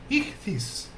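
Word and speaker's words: ΙΧΘΥΣ: Essa é a palavra peixe, em grego, que se pronuncia aproximadamente como ichthys, escrita em letras maiúsculas gregas.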